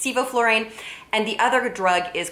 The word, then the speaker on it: sevoflurane: malignant hyperthermia are inhaled anesthetics he called it Sebo fluorine it's actually pronounced sevoflurane and the other drug is called succinylcholine and